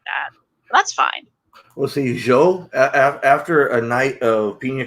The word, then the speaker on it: Zhuo: your name it's um the official is joe kind of like saying joe or joe but i tend to